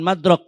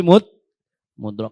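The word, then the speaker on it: مُدْرَك: Jadi bacanya yang benar bukan madrak tapi mudrak.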